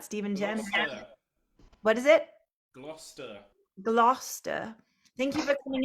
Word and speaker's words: Gloucester: Glouester. Glouester. Thank you for coming in from Gloucester.